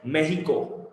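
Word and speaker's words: México: मेक्सिको के बीच में, जिसको स्पेनिश लोग बोलते हैं मेहिको। मेहिको अपने बोलते ना मेक्सिको, उन लोग बोलते मेहिको। एक्स is silent there, मेक्सिको, ठीक है।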